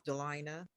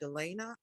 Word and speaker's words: Delina: But my first name is Delina, and it really irritates me when people add an extra A to it, Delana.